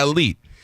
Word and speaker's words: Alite: you say it I Elite actually it's pronounced in Albania is elite elite and here in America they used to say aite in the neighborhood and it really is Elite right you know so